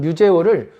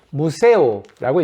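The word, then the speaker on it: museo: 어쨌든 스페인어로는 뮤제오를 무세오라고 있습니다. 카페 무세오. 예, 무세오는 박물관이란 뜻이에요.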